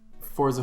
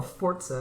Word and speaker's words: Forza: literally, I played this morning Forza Horizon 3. No, is that pronounced Forza or Forza? Because I've heard both ways. Well, I say Forza because there's no T in it.